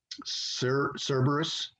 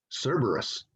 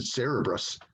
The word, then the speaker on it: Cerberus: 80s early 90s called cerberus but i always pronounced it wrong i always pronounced it cerebrus i don't know why